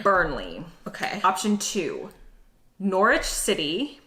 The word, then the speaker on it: Norwich: burnley okay option two norwich city probably pronounced norwich not norwich i do know something